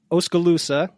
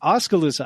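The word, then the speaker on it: Oskaloosa: doing good thank you so elain is from osala I pronounce that righta I knew I'd get it wrong it's near De Mo right de Mo Iowa it is near De Mo yep okay oscal loosa Iowa she's a personal trainer gym owner of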